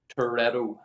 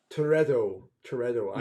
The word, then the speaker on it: Toretto: Toretto. Toretto. Yeah. I don't think I can do it with the accent, but Toretto.